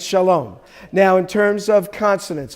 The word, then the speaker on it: Shalom: so we print out we don't pronounce this Shalom that's what they might do in Texas so but it's Shalom right okay what's almost the